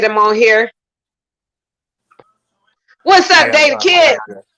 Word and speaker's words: Dae The Kidd: D-A-E The Kidd, or is it Dae The Kidd? It's Dae The Kidd. That's how you spell it.